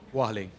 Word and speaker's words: Warlley: Alves, how do you pronounce his first name? Warlley? Warlley.